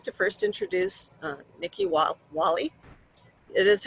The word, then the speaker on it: Whaley: could have sworn i got corrected okay nikki whaley uh she's a board support and field services